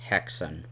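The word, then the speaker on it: Häxan: This is the film Haxan. According to the essay, that's how you say it, so that's how I will say it.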